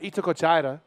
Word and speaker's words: Itacoatiara: So the action is starting to heat up here at Itacoatiara. Yes. Can you say it? They put me on the spot here, Eric. Dallas. Itacoatiara.